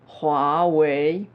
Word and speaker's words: Huawei: wel puisque c'est l' axe principal du salon huawei ça se prononce huawei je répète roi ouais ouais ouais ouais je